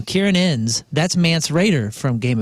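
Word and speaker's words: Ciarán Hinds: How do you pronounce this guy's name? Kieran Innes.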